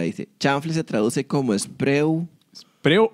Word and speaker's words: Spreu: Chanfle se traduce como spreu. ¿Spreu o spreu? Spru. Ahí está, esa es la pronunciación, dice.